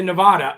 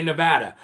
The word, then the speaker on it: Nevada: to say nevada too i shouldn't say nevada i should say nevada or again and nevada i'm sorry i'm from